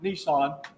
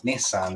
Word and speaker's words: Nissan: Oh, I always thought it was funny the way that Americans pronounce Nissan as Nissan. Nissan, yeah, Nissan. Until I realized that it's like a composite of the Japanese numbers 1 and of 2 and 3. You know, Ni and San.